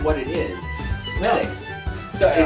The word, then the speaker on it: Smithwick's: Smithwick's. So Yeah. it says Smithwick's, but it's pronounced Smithwick's. Or you can say Smithwick's if you want. It doesn't really matter.